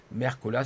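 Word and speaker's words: Mercola: vous tapez docteur merco là comme ça se prononce merco la seo est là à la fin voilà et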